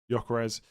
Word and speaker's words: Gyökeres: Gyökeres. That's how everyone else says it. I'm going to say it like that from now on.